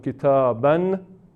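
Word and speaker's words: كتاباً: Entonces, por ejemplo, kitaban, decimos kitaba. Eso es la forma muy sencilla de hacer la pausa.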